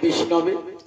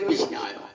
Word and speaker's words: বিষ্ণবে: কার উচ্চারণটা ঠিক হল যারা সংস্কৃত জানে তারা কি বলে বিষ্ণু শব্দের চতুর্থ একবচনে বিষ্ণবে আর যারা জানে না তারা কি বলে বিষ্ণায় কৃষ্ণায় বিষ্ণায় একটাই শিখে রেখে দিয়েছে